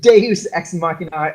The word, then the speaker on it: Deus ex machina: I got the nod from Kai, I said it right. The biggest Deus ex machina of the story was